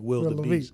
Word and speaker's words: Will Laviest: Beast, you know, because you say my name fast enough, it sounds like Will the Beast.